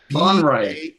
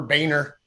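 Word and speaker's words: Baenre: trying to swallow it like French. Like Boehner. Just kind of pull the tongue back.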